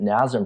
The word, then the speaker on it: NASM: the act the kind of the way we pronounce the acronym the guidelines that nazim presents are actually pretty flexible and that each